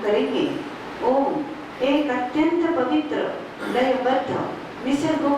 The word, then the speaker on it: ओम: उसके बाद ही पवित्र ओम शब्द का उच्चारण खुली आवाज में करना है ओ दो तिहाई म एक तिहाई अंजन बी रेडी बंद